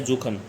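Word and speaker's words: suchen: To search होता है जुखन। और इसकी प्रोनाउंसिएशन क्या होगी? जुखन क्योंकि एस को जे के अकॉर्डिंग प्रोनाउंसिएट करते हैं।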